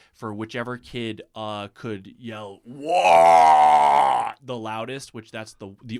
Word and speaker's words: WAAAGH: Wah. But use it "Wah!" which it's just it's how like a Cockney British person would pronounce war.